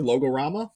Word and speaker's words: Logorama: Logorama.